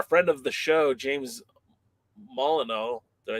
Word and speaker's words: Molyneux: Well, what I'm hoping for is because our friend of the show, James Molyneux, did I say it right? Jim Molyneux, yeah.